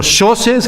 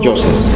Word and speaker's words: Yoses: nunca aprendí a pronunciar porque yo pronuncio Yoses con Y argentina, y no como se diga en tico. Yoses.